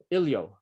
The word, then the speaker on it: Ilyo: So first of all, welcome along, Ilyo. Have I pronounced that right? Yeah, thanks, Mark, for having me. You pronounced it correctly.